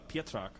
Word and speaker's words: Pietrak: It is Pietrak. It's sort of like Wow. the Z is silent, so Boy, it's one of those Polish stuff.